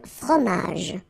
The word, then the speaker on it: fromage: Then, un fromage. Okay, remember, G-E-J. Okay, in that case, you don't insist on the final j. Fromage.